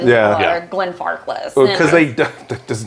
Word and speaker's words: Glenfarclas: they can't pronounce Auchentoshan or Lagavulin or Glenfarclas.